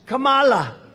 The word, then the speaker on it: Kamala: get her name here how do you pronounce it it's with a comma like a comma right like a comma remember he couldn't pronounce her name he was saying her name wrong and she tried to interrupt him know my name was kamala like comma i remember that like